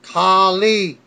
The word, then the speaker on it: Khali: Correct my name, it's Khali. Can't mess that up. In pronouncing his name on SmackDown, back live, Fandango